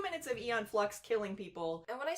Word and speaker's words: Aeon: And I can watch Aeon Flux, but like I hated Ren and Stimpy. Aeon Flux. What did I say? Yeah, Ian. Good old Ian. Good old Aeon Flux. That's the Scottish pronunciation, So right?